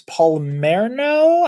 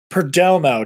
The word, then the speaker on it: Perdomo: Chance Palmerno, I want to say. So it sounds. Perdomo, Chance Perdomo. That's I couldn't remember how to say his name.